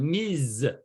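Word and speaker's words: Ms.: one and it's called the s is pronounced like a zed so everybody repeat excellent miz very good okay so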